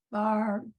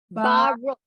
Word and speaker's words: Baruch: Kadosh Barak, that's the one that caught me. Baruch.